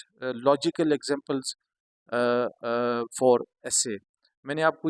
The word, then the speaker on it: essay: तो dear students, meaning of the word एसे, the word एसे comes from, ये लफ्ज़ एसे जो है ये कहाँ से निकला हुआ है,